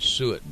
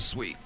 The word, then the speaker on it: suet: But I could easily pronounce that as sweet.